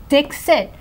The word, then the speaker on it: Dixit: just kind of like no it's Dixit but it's spelled like d i k the way all these